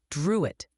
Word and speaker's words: Drouet: "It's pronounced Druitt. My father's family was French."